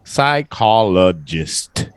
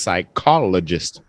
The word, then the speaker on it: psychologist: yeah pretty close psychologist the p is silent and the H is silent you just side call psychologist deadly psychologist the stress on the cost psychologist psychologist yeah psychologists yeah